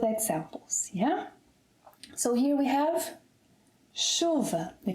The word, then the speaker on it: chuva: So here we have 'chuva'. The correct pronunciation is 'CHUva', with the stress on the 2nd syllable to the last, meaning that the final ‘a’ is unstressed.